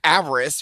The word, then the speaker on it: Avarice: No one knows how to pronounce avarice, right? Ava Rice? Yeah, Ava Rice. so- Yes, Ava Rice.